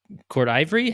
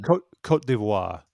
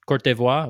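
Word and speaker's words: Côte d'Ivoire: the from DR Congo passed away in the Cote d'Ivory. How do you say that mission? Cote d'Ivoire. Cote d'Ivoire. Okay. Cote d'Ivoire.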